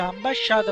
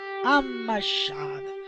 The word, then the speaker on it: ammasciata: Che poi mi hanno detto che non si dice ambasciata ma ammasciata. Quindi con la M non con la B.